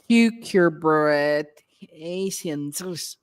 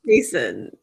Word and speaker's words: cucurbitacin: other cucurbit vegetables that contain high levels of cucurbitaceans. I'm sorry, that was so cute. That's so cute. I can't pronounce it right.